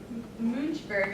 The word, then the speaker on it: Münchberg: here to Missouri and muj burg I think is how you pronounce it can anyone correct me on that is that about right that's about right okay and just do